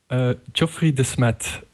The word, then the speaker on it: Geoffrey Smet: How do you pronounce it? Let's go with that. Geoffrey Smet. Okay. But all the English people say Geoffrey, of course, because that's the English way to pronounce it.